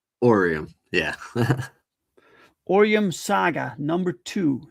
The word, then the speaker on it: Oreium: And you told me it's pronounced it's pronounced Orium. Orium.